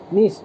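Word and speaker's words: niche: है ना ऑर्गेनिज्म्स का उसी को हम निश कहते हैं क्या कहते हैं निश कहते हैं स्पेलिंग समझिए एन आई सी एच ई निश ठीक है तो यह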